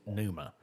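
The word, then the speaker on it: pneuma: Well the Greek is numa. I don't I'm not sure what the Hebrew is, but the Greek is numa.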